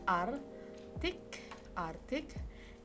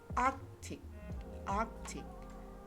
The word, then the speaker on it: arctic: Okay, and then in this word, some people have a common error of pronounce it as artic, and then nuclear for this word and a for this word.